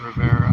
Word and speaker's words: Riviera: River Beach Riviera Rivera it's spelled Riviera but folks just call it Rivera and maybe I'll film